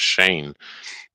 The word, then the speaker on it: Shaynje: I was like, yes, SHAYNJE, and then just stop and look like, what? I'm like, yeah, the J is silent.